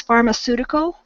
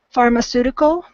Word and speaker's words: pharmaceutical: hard CA sound when it should be a soft sea so it was pharmaceutical pharmaceutical um we would also say Pharmacy would be a place um so yeah that CA is a is a soft C that's the only thing